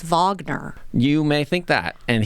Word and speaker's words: Wagner: on the pronunciation thing even though it's spelled Wagner I believe it is Vagner you may think that